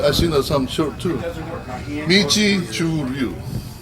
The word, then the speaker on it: Uechi Ryu: Uechi Ryu. It's Chinese pronunciation.